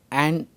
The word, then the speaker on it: an: correct form, and similarly whether it is a or an honest, it is an honest because her is silent here.